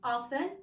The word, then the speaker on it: often: إذا دائما always usually غالبا generally عامة often أحيانا بتنطقوش تي often.